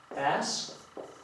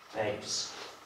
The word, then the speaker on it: bass: Ok, napiszemy sobie bass i bass.